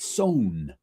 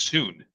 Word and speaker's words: Sewn: Sewn, not sewn. Well, the first time I saw it was when I was still in language school. This is pronounced soon, but it's not. Sewn, SONE. There we go.